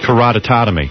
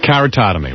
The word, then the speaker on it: keratotomy: too hard to pronounce catomy doesn't sound right katamy kotom keratotomy right you know I could